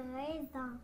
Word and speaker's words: raisin: des raisins c'est des raisins raisins raisins raisin raisin c'est la deuxème syllabe c'est la deuxième Sy qui contient le son ze S se trouve entre deux voyelles et donc elle se prononce ze très bien et ça